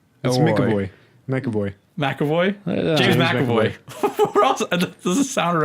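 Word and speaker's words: McAvoy: that it's Mick oh wait make a boy MacAvoy exactly what's the process our I do think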